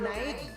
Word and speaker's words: Naegi: My name's Makoto Naegi. Now remember that pronunciation.